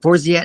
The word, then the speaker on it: Forziat: How can you pronounce it? Forziat?